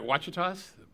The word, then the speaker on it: Ouachitas: But what, am I getting it right, Ouachitas?